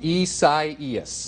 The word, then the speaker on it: Isaias: Isaias. Isaias. And you say, your name is pronounced Craig.